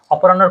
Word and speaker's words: অপরাহ্ন: যখনই হফলা থাকবে তখন তোমরা দুটো জিনিস মনে রাখবা, হফলাটা মানে হ লেখায় পরে আসে কিন্তু উচ্চারণে আগে আসে।